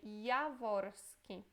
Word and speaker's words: Jaworski: Esse J se lê como se fosse um I, ok? É Jaworski. Depois, Adamczyk.